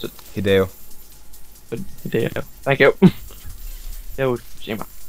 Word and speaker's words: Hideo: How do you pronounce it? Hideo.